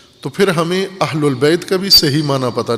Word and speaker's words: اہل البیت: عربی ہے، عموماً ہم عربی پنجابی میں تلفظ کرتے ہیں اہل بیت۔ اہل البیت زبر ہے اس کے اوپر۔ بیت، قرآن کریم نے